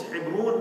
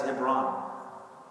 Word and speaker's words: Hebron: In Hebrew, it's Hebron, but in English, it is pronounced as Hebron.